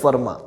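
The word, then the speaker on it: Fermat: ई D pharma जगह spelling में फॉर्मेट ऐसा लिखा हुआ है लेकिन इसको बोलते हैं वर्मा तो वर्मा को भी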